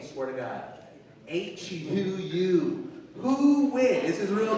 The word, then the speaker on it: Huy: I have an American name, Huynh, that's my name. But my Asian name, my real name, is spelled H-U-Y. It's pronounced Huy.